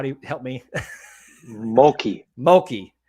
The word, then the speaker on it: Mulkey: Mulkey. I look at it and I'm like, is that like murky, but with an L?